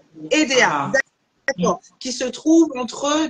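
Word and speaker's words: Édéa: se prononce EDA ou EDA ed ça se prononce EDA EDA d'accord qui se trouve entre Douala et Yaoundé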